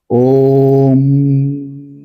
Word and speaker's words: ওম: কিন্তু যখন আমরা ওম উচ্চারণ করছি, দেখুন কিরকম ভাবে উচ্চারণ করছি, ওম। এই যে যেখানে আমার শব্দটা শেষ হয়ে গেল, তারপরেও কয়েক সেকেন্ড আমি পজ নিয়েছিলাম। অর্থাৎ তখন আমার গলা, মুখ